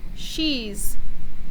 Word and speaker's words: she's: She's. Do you hear the Z sound at the end? She's.